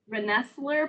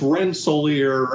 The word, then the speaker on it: Rensselaer: and yasmin yang from renessler polytech institute how bad did i get those bill pretty much it's rensselaer and it's a baruch college